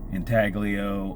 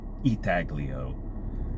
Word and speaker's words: intaglio: for the artwork because that intaglio or I think it's pronounced actually eagloo um method of U